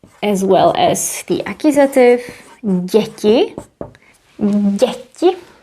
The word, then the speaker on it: děti: And the nominative plural is děti, as well as the accusative, děti. Děti. It's a little bit difficult to pronounce. Děti. They both have this soft sound.